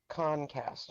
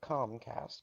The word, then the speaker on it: Comcast: He was in Iowa, and he was calling them Concast. Concast, not Comcast. Concast. C-O-N.